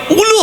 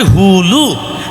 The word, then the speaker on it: হুলু: ঠিক তদ্র ওই উলু হবে না উচ্চারণটা হবে হুলু।